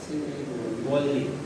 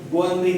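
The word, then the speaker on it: 권리: Wally po yan, although Gwonri nakalagay, pero mamaya i-discuss natin kung bakit naging LL yan. Mamaya, discuss mo natin yan. Pero although Gwonri po siya, pero ang tamang bigkas po yan is Wally.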